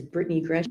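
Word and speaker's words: Britany Gresham: Can you please state your full name and spell it for the court reporter? Yes. My name is Britney Gretch.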